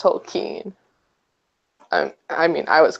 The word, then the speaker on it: Tolkien: Tolkien like you wrote in a letter it's pronounced tokine and I mean I was crushed I'm a